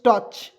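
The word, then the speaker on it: touch: ओ यू सी एच टच टी से ट सी एच से च लिखेंगे और इसके बीच में ओ यू है इसका उच्चारण नहीं करते हैं ठीक है टच टच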